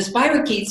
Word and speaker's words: spirochetes: But anyway, we say spirochetes, and the spirochetes are, for those who don't know, they're bacteria